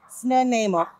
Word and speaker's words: Snuneymuxw: We have Snuneymuxw. Snuneymuxw.